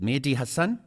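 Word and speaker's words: Mehdi Hasan: But I came across this chat with Trevor Noah, and I think it's you pronounce his name is Mehdi. Is it Mehdi Hassan? Correct.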